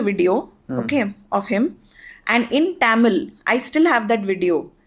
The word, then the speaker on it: Tamil: Then he takes a video of him and in Tamil, I still have that video. In Tamil or Tamil, the right pronunciation, he asks my husband doesn't know Tamil, okay?